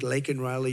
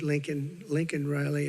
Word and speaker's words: Laken Riley: And after months of prodding him, Biden couldn't pronounce her name. He said, He said Lincoln Riley, and Lincoln Riley was the football coach, or the coach. And this was in Congress, couldn't even get the name right.